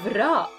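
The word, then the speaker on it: راء: dial is like this now we have rock rock so it is just like the letter R in English so it is my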